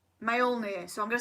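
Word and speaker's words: Mjölnir: 8 what is Thor's hammer called it's the male near male near so I'm gonna spell that for you so it's MJ o L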